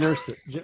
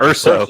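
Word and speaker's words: Erso: No, the Jen Ursay. Why do you say her name? Jen Ursay? Right? Urso. Urso. It's Urso.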